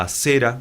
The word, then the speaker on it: Asera: Ahora, quizás en los tiempos modernos, quizás nosotros no adoremos a Baal, a Asera o a Ashera, depende cómo quieran pronunciarlo.